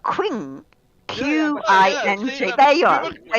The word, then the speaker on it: Qing: You may be pronouncing it incorrectly, but Qing, Q-I-N-G.